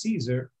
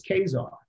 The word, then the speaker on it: Caesar: actually you can make a case that we're pronouncing julius caesar wrong case phonetically that his name is pronounced julius casar so that's my kid's name euless um and